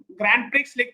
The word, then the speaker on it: Grand Prix: Bahan Grand Prix Grand Prix but it is pronounced as pre in formula.